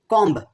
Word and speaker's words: comb: Comb as comb, leaving out the silent B.